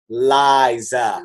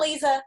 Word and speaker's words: Liza: I'm like, it's Liza. Liza. Right. Not Lisa.